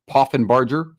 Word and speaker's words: Poffenbarger: Reese Poffenbarger. I think I said it right. Poffenbarger, thank you.